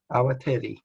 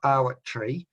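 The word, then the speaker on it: Awatere: So it's Awateri. It's not Awat tree.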